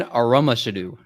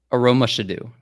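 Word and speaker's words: Aromashodu: you got pretty close brad last word devon aromashedo i feel like you keep on saying last word last round say it again say the name again devin aroma should do he was the wide receiver played for a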